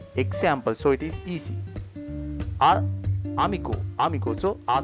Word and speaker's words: amigo: So letter A pronounce as always R sound, R sound. Amigo, right?